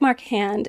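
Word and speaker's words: Marchand: like I'm sorry Patrick marand it's pronounced Maran okay the D is silent it's a French thing Canadian from Quebec hey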